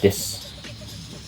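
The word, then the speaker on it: です: Dibacanya ini adalah watashi wa maiku mira desu. Watashi wa maiku mira desu. Di sini tulisan Latinnya watashi wa maiku mira desu. Untuk desu itu tidak dibacanya desu tapi des.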